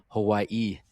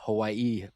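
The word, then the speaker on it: Hawaiʻi: If you see an apostrophe, you're supposed to stop.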